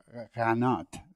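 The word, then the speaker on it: qanat: Yeah, I mean, the Kanat, or if you want to say it in Farsi, if there's any Persian listeners, Kanat, that's how they say it, which is used in that part of the world.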